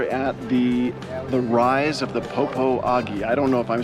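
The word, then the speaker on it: Popo Agie: We are at the rise of the Popo Agi. I don't know if I'm saying that right. Bryce, it's pronounced Poposia.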